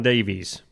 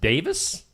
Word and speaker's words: Davies: An actor John Davies. John Reese. I think it's pronounced Davis, but okay.